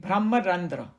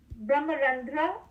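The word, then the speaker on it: brahmarandhra: okay it says brahmarandra that's how you say it brahmarandra so the m a is silent brahmarandra at the crown of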